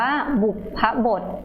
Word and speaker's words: บุพบท: ใน ประโยค นะ คะ คำ นี้ นะ คะ อ่าน ว่า บุพบท นะ คะ คำ บุพบท นะ คะ